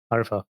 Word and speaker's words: Arifa: So wait, your full name is Arifa. Arfa. Mhm. Okay, but it's spelled like Arifa.